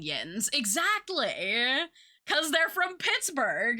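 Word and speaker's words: yinz: So it's like, So it's like, it's meant like YUNS or YOUUNS. But it's pronounced yins.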